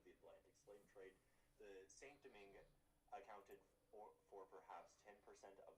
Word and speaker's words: Saint-Domingue: I'm just going to say it like you, Saint-Domingue.